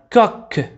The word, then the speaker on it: coq: un coq. un coq. تذكروا أن السي دائما عندما يكون أمامها O أو A أو U ننطقها ك، وكذلك عندما يكون سي في آخر الكلمة ننطقها ك.